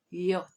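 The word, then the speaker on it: yaourt: next one is yogurt yogurt in french is yot yacht and with the article it will be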